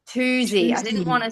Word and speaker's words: Tuzi: Toosey. Toosey.